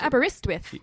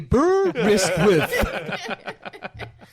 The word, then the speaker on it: Aberystwyth: And how do you pronounce this place? I know it's Aberystwyth. Aberystwyth. There are actually 4 ways of pronouncing it. There's a Aberystwyth.